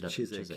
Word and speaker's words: Chiswick: That's how I pronounce Chiswick. Yeah. Yes, he was giving me the English version of the pronunciation. W is silent.